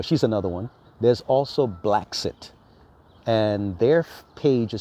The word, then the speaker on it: Bla Xit: another one there's also black sit and their page is spelled BL a space XIT like brexit but it's blacks it BL a space XIT